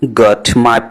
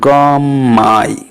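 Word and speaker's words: got my: আপনারা খেয়াল করবেন গম মাই, গট মাই না, গম মাই। তাহলে আমি এখানে টিকে সাইলেন্ট করে দিলাম, এবং পরবর্তী ওয়ার্ডের প্রথম অক্ষর এম সাউন্ড যেটা বা ম সাউন্ড, সেটাকে আমি গর সাথে মিলিয়ে ফেললাম, হয়ে গেল গম মাই।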